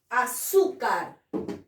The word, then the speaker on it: azúcar: tirarlas muy bien seguimos la palabra azúcar azúcar sí no sí porque es grave azúcar y la mayor fuerza de boro tiene la penúltima sílaba y termina el ere